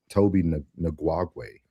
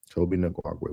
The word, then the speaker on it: Tobi Nwigwe: Tobi Nwigwe. Nwigwe. Mhm. Tobi Nwigwe.